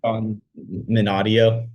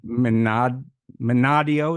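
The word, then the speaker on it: Minadeo: Minadio. Minadio.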